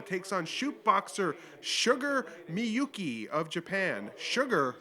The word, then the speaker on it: Miyuki: ] up miyuki's name calling her uh my uh my yook m-y-u-k-e that's not how you say her name and that's not how